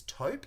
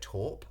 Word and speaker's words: taupe: The correct pronunciation is taupe because it is a French word, but for some weird reason in Australia we say torp.